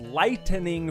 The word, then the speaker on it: lightening: North American markets as lightening Force quest for the Dark Star that's not lightning as it's actually spelled like when Lightning Crashes outside and you see it it's a light 10 l-i-g-h-t-e-n-i-n-g lightening Force that's how they wrote